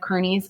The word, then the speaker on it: Kearney: away in front of kearney's and i think they may even pronounce his last name carney but i think it's like i think it is but it looks like kearney with kearney's army and